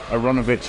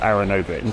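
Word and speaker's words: Aaronovitch: personal kind of thing I prefer aronovich or aronovich those the things I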